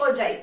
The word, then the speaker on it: ogive: ओगिव कह लो ओगिव कह लो, ओजाइव कह लो ओजाइव कह लो। वैसे इसका सही में जो प्रोनाउंसिएशन है वो उसको हम ओजाइव बोलते हैं, ठीक है।